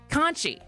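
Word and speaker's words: conchie: Conchi. Conchi. Spell it.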